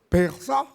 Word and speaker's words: Pesaj: el latín para Pesaj, que así se pronuncia, Pesaj, entonces se ocupó la